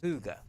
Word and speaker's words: Suga: Suga, that's how you pronounce it.